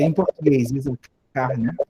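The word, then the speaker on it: יששכר: que é em português, Isacar, né, foi escrita em hebraico com duas letras sin iguais. O fato é que não se pronuncia essa outra aqui.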